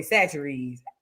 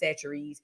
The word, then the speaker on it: Chachere's: while to understand, and I think that's the way you pronounce it, Chachere's.